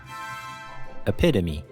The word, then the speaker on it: epitome: The tricky part of the word is the vowel in the second syllable, which is pronounced like a short I sound.